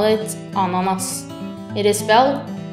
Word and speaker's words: ananas: is a pineapple i Norway we call it ananas It is SP a n a n a s try it ananas This is called a grape